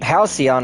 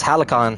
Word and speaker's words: Halcyon: Halcyon. Oh, that's how you pronounce it. Aside from you, That was Halicon.